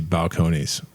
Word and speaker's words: Balcones: And so I just very confidently said that this was Balcones, and I apologize to Texas and the whole brand, because it's very obviously Balcones.